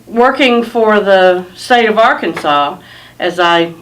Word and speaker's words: Arkansas: of the the name Arkansas you don't hear an S sound you hear it saying